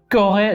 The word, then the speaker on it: Corée: Nada más se pronuncia esta primera parte. La E no se pronuncia. ¿Ok? Corée. Cuando vemos una E con un acento agudo. ¿Ok? Un accent aigu. Se pronuncia E.